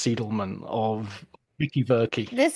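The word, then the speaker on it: Seidelman: to be continuously going you know Susan seidleman when it's seelan or of Vicky bery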